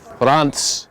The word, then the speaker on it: Reims: Reims. In France. It's pronounced Reims, spelt R-E-I-M-S, isn't it?